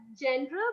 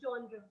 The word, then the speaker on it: genre: Many people pronounce it as genre, but it's genre.